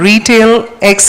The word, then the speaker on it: RetailEX: to please # e4m retail X as one word once again it is retail ex it is pronounced as retail X so just remember to